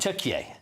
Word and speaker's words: Türkiye: Türkiye.